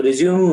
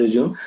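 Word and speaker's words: résumé: So, but don't, okay, people pronounce the resume as resume. So resume means you are resuming something. I mean, you have taken a hiatus or you are taking a break. You have taken a break and you are starting it again. So that is resume. So we call it resume. It is a French word, right? So don't say it is a resume. Okay. So resume is a wrong pronunciation. It is resume.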